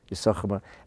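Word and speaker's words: יששכר: So the Rebbe's father said, that's why there's two shins in Yisachar, because Yisachar represents Torah. Yisachar, one shin is not pronounced, because one of the shins represents Pnimius HaTorah.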